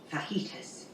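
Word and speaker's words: fajitas: my friend is cooking FAS FAS and it's it's pronounced fitus he just might say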